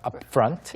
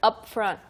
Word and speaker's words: upfront: upfront 같은 경우에는 발음이 조금 어려울 수 있으니까 연습해보세요. up, p로 끝났는데 바로 살짝 f로 바꿔야 되니까 upfront, Yeah, up front, upfront.